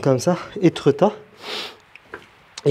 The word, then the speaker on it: Étretat: Ouais, du coup dans cette ville, Étretat, ça se prononce comme ça, Étretat, il y a plein de mystères par rapport à Arsène Lupin.